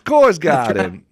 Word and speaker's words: Korsgaden: You just have to tell them that, you know, say my name with a Boston accent. Co guy. It's Coors guy.